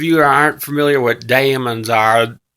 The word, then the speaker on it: daemon: that aren't familiar what Damons are Damon there is sometimes pronounced demons but they're different than